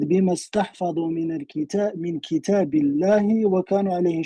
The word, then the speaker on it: استحفظوا: It says استحفظوا, not استحفظوا. It's like mean they save it.